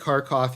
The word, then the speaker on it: Kharkov: I think Kharkov is the Russian pronunciation.